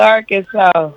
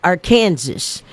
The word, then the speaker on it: Arkansas: kid because you know the way it's spelled A R K A N S A S and that little, you know, you break it down hooked on phonics. So, I was always like, our Kansas, you know, this and that in our Kansas.